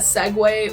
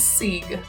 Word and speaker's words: segue: Like I didn't know that segue was spelled like that until a few years ago. I always thought it was Sieg.